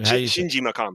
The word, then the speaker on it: Shinji Mikami: I always say his name wrong. Everybody, yo, I got Kofi here. Is it Shinge Mikami? Mikami? Shinji Mikami.